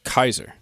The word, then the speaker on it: Caesar: whole push back like no we should it's a hard sea it's a sound so are you're saying that soft seas are new soft Caesar Caesar it's Kaiser that's where the modern